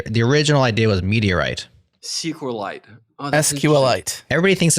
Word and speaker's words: SQLite: official way like meteorite he actually named it after meteorite so it's like see uh say it Adam sqlite sqlite like it's just a lot of syllables like meteorite yeah T man I